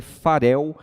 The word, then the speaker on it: Farel: ele Aqui como Guilherme Farel com um R só da forma correta como se pronunciar em língua portuguesa entrando já na sua